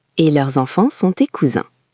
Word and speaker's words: cousin: Et leurs enfants sont tes cousins. Attention à la prononciation ici. Pour un garçon, c'est mon cousin, le son est un. Pour une fille, c'est ma cousine, le son est in.